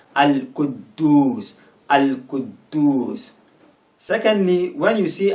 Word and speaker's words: Al-Quddus: Here it will sound as if the first D is silent, so Al-Quddus, Al-Quddus, Al-Quddus.